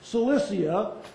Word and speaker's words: Cilicia: Cilicia.